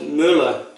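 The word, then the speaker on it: Müller: at the CBB for the pronunciation of Muller now if you speak a little German and over here it's called Miller so maybe that's not perfect German but it's really close I didn't ask Journal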